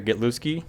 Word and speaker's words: Gitlewski: All right, this week we got Micah Gitlewski.